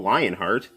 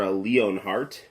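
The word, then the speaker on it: Leonhart: of brooding protagonist Squall lionart or leonart however you want to pronounce it is he uh comes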